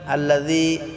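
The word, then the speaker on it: الذي: আল্লাযী জিটা আমরা পাতলা করে এক আলিফ টেনে পড়ব।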